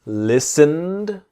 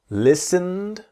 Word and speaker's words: listened: study the pronunciation slowly listened so the T is silent listened and we imagine that the e so the T and E in listened our silences listened listened listened not listen Ed listened speak mouth open